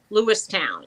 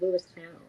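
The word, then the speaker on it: Lewistown: get corrected a lot I kept saying Lewis town and they go Leon and then I said Leon and did I say it right even I I even know which one way that I wanted to say Le and they said Lew town all the other ones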